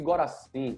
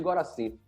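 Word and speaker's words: Gorassini: Só que aí tiveram dois psicólogos chamados Spanos e Goracin. Eu não sei como escreve o nome dele, mas eu sei pronunciar que eu nunca mais esqueci. É Spanos e Goracin.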